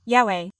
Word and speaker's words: Yahweh: Yahweh. That's how it's said.